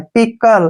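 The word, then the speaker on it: pickle: का उच्चारण ल और ई का उच्चारण हम नहीं करते हैं पिकल पिकल पिकल क्या होता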